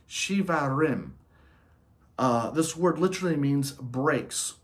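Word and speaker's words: shevarim: The second blast is pronounced shivarim.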